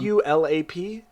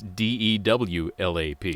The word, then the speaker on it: dewlap: Is it DULAP? No. No, it's DEWLAP.